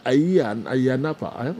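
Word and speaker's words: Ayia Napa: Tutu, Udiwe Efri, Tutu, now at a year, is it Ayanapa? Cyprus. The city of enjoyment. Good morning. Okay, General. Okay, what's Cyprus, eh? Minister, pronounce it in here. Ayanapa.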